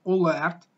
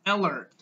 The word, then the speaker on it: alert: well not a lot it's not all left its alert alert alert and the definition is